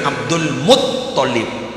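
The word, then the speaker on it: عبد المطلب: Saya ingin memperbaiki, bukan Abdul Muttalib, bukan Abdul Muttalib ya. Tasdidnya itu ada di to, bukan di lam. Kan mereka Abdul Muttalib. Si bener Abdul Muttalib.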